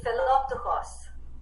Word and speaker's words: Philoptochos: So how do I pronounce it, Mrs. Parlamas? Help me out. It would be Philoptochos.